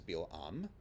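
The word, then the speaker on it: Bil'am: his hebrew name is bill um the stress at the end and with an i instead of an a sound and bilam appears to have been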